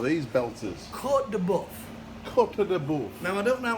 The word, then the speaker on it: Côte de Boeuf: Côte de Boeuf. Now, I don't know how to spell it, but that's how you say it.